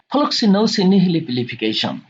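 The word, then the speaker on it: floccinaucinihilipilification: আর এটা তো আমরা শিখে ফেললাম ফ্লক্সিনোসিনিহিলিপিলিফিকেশন। দেখুন আবার টার্মটা বলুন, উচ্চারণ করুন, ফ্লক্সিনোসিনিহিলিপিলিফিকেশন।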